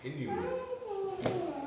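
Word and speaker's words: Inuit: it they say Inu everybody always call him Eskimo but that's not right it's Inu for us in our language really have a name like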